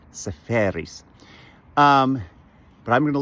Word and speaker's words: Seferis: And um I had lunch once with a fascinating guy who translated Yorgos safaris. I keep saying safaris like safari is saferis.